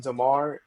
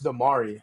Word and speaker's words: Damari: I don't know if his uncle watches, but I've been pronouncing Demar his name wrong. It's Damari.